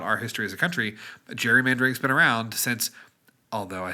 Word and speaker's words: gerrymandering: Gerrymandering's been around since. Although I say gerrymandering, another fun fact, pronounced gerrymandering because it was named after a man, Mr. Gary, from I want to say Connecticut, maybe Rhode Island.